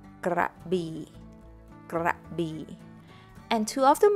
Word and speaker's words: Krabi: Another city that most people can pronounce correctly is Krabi, Krabi, Krabi.